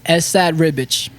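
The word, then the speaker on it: Esad Ribić: Uh Esad Riich.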